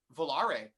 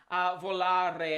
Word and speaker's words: Volare: Volare. It just rolls off the tongue for the, especially if you can roll your R's.